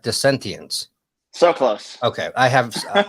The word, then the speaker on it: Dissentience: So the band name, how we pronounce it is Dissentience.